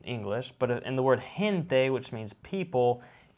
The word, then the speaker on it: gente: but in the word gente which means people it sounds like an h it's gente there i'll tell you